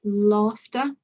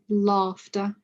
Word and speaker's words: laughter: The exception is the word laughter. It's still spelt A-U-G-H, but it's got a more of a R pronunciation.